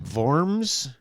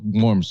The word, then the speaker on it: Worms: in in warms okay Germany vorms yeah it's called worms you spell it like that w o r m s Birds worms Germany yeah like like worms yeah only in German I wonder why they